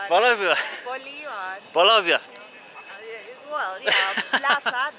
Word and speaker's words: Bolívar: Is that Bolívar. Correct? Bolívar.